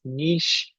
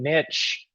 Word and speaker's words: niche: There are two common pronunciations. If you look at all the different things that are on here, you'll say either way is correct. Both niche and niche are are the are okay.